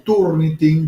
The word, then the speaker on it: Turnitin: y entra a ver Turniting, ¿no? Se escribe así, Turnting con G al final, ¿no?